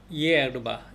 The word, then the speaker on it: hierba: hierba. hierba는 앞에 H가 묵음됐어요.